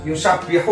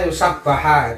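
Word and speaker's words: يسبح: Ya pertama juga kan bacanya bukan yusabbihu kan di situ yusabbihu. Oh iya, benar. Bacanya yusabbaha.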